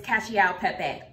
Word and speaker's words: cacio e pepe: recipe cacao cacao pepe how do you say that okay so I'm gonna lift it up it's Cassie out Pepe literally it's just Parmesan